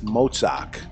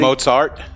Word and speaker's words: Mozart: Wolfgang Amadeus Mozart. Die today. You mean already? Mozart? Mozart. No, yeah, it's okay. It's a T at the end. The T becomes Zarts.